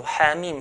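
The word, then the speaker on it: حم: We stretch it to 2 counts. So ha, mim, for example, the ha part, 2 counts.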